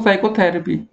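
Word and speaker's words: psychotherapy: साइकोथेरेपी। तो simple सी बात आप समझ गए, साइको को मतलब ऐसा आप है कि कौन सा हम लोग छोड़ रहे हैं इसको, पी को नहीं पढ़ रहे हैं, तो आपका सी विकल्प यहाँ पर सही होगा।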